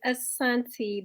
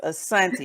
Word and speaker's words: Asoniti: Okay, so it's Asoniti. The first I is silent. There it is, Asonti.